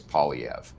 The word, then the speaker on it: Poilievre: The simplest way for an Anglophone to say it is Poilievre, but it has been said many different ways.